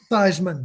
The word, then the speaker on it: Theismann: joe is it joke die is it joe teisman how do you pronounce the last name sizeman thousand runs with heisman okay this is before